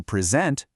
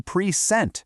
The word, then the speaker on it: present: Same thing for a present, the noun, versus when you present something, the verb.